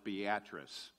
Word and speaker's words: Beatrice: the Nebraskans do and call it Beatrice you got to put the emphasis on the right syllable so I was in